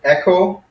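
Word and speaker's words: ἔχω: cool sentences and then our new verbs are echo so it's kind of sound like our word echo or say something's like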